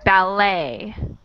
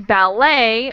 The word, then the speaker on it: ballet: So, in ballet, the T is silent, and in billet, it is not.